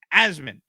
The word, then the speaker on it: Asman: just my name a-s-m-a-n it's pronounced asmin as in a-z-m-i-n asman thanks so